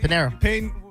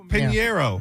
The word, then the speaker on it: Pinheiro: H is silent. Pinheiro. Pinheiro. Yeah. Like Panera with an O.